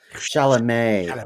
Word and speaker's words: Chalamet: How you pronounce it? Chalamet.